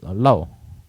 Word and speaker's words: Lor: The way they pronounce it, like Lor is low. But it's not spelled like that.